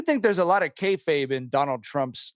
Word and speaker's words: kayfabe: is a lot of uh how do you pronounce the word? Uh is it kayfabe, Tyler? The wrestling term. Yeah. I do think there's a lot of kayfabe in Donald Trump's like the political grievance.